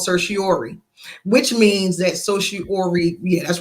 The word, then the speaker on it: certiorari: They can deny something called certiorari, which means that certiorari, yeah, that's right, making sure I say it correctly.